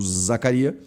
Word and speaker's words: Zacaria: Zacária ou Zacaria ou Zacarias. É Zacaria, tá? Não tem s.